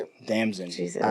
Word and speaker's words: Damson: Damson. Jesus. All right, well, Like Damson in distress. Damson in a dress.